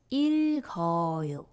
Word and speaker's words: 읽어요: Then this 기역 moves to the zero consonant position. And finally, you will read it as 읽어요, which means I read.